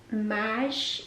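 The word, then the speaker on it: Maje: the second dress it's by a brand called mash m-a-j-e i've never shopped with the brand there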